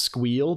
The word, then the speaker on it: SQL: It's pronounced squeal BTW.